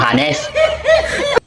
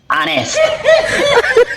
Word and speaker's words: honest: Tapos ngayon yung honest, ginawa mong hanes. Ano yan? Yan na naman tayo eh. Nagpapakita naman kayo ng mga ka-iti-iti. Ano sabi ko? Iti-iti. Iti-iti. Ha? Ulitin ko ha. Ang hanes. Ang pronunciation, honest.